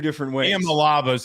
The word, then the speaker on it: Iamaleava: Iamaleava is how he wants it pronounced.